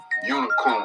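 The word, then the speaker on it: Unigcorn: Unicorn. The G is silent.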